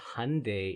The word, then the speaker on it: Hyundai: Uh, it's actually pronounced Hyundai in English.